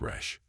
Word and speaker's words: Resh: or wickedness in Aramaic this letter is written as or and pronounced as Resh the third letter is